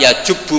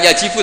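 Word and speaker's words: يَجُبُّ: Itu bacanya bukan yajibu tapi apa? Yajubu yaktok.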